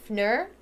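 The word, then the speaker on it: Pfnür: I'm pretty sure in that case, the P isn't pronounced. My sister's ex-fiance's last name was spelled with a PF at the beginning like that, but the P wasn't pronounced. It was just foul. So that was his last name. But this must be Fnur.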